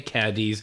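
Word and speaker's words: Cádiz: Now, Cadiz Notice how I said that? Yes, you said it pronouncing correct. Most people say Cadiz, and we're learning along the way on how to pronounce the correct term.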